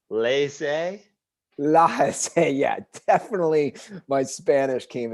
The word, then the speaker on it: laissez: i would consider myself more of like a la jose faire person when it comes to economics clearly